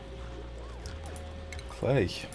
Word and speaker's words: Klei: Klei. Rhymes with laissez.